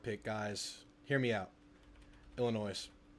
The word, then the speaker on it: Illinois: Illinois. Illinois. The the S is silent.